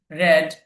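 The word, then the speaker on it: read: প্রথমটা হবে রিড, পরে দুইটা রেড, রেড, খেয়াল করবেন।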